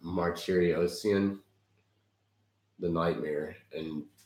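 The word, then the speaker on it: Martirosyan: So we're looking at the replay of the Triple G versus, I believe it's pronounced Martyriosian, the Nightmare.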